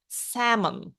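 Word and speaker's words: salmon: в нас лосось дивіться lл у цьому слові не вимовляється samon вона німа 11-те 11-те - це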